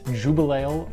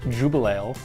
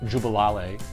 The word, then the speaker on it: Jubelale: tonight is the Deschutes Jubal ale or as I like to call it the Jubal wale which is not the right way to say it they call it a